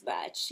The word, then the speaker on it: Bach: botch is that correct the actual pronunciation is botch yeah my pronunciation needs